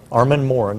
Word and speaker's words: Armand Morin: Armand Morin is how you say that.